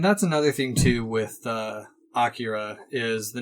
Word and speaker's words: Akira: Akira. I don't read kanji either. Yeah, but from what I understand, it's meant to be more of a 3-syllable word than the 2-syllable that I often say.